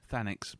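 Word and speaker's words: Thanix: Is that I'm pronouncing that right? Fanax.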